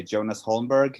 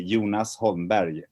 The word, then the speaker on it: Jonas Holmberg: the film festival yeah when i speak to americans i usually say jonas holmberg but if i talk to swedish people i say yoonas holdenberry so it's a little